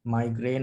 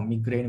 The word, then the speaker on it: migraine: we practice as clinicians we see migraine or migraine variously pronounced the same thing very commonly it's